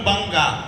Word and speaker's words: बंग: गुजरात, मराठा, द्राविड़, उत्कल, बंगा, जबकि बंगा नहीं है। हमारे यहाँ 80 बच्चे बंग शब्द का उच्चारण करते हैं।